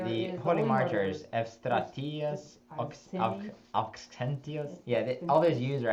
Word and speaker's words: Auxentius: But Eustratius, Auxentius, Eugene, Mardarius, and Orestes. Yeah. We made a decision in Pittsburgh to try and pronounce all the U's as F's or V's. But it gets really hard with Auxentius.